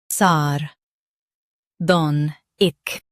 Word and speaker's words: sardonic: sar don ic sardonic Stress don and soften sar and ic.